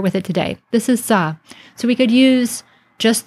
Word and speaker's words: sA: Well, it's usually used for the sounds of S and Aleph. So in modern times, we pronounce this as Sa.